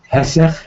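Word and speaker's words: היסח: Hesech, hey yud samach chet, ches, hadas.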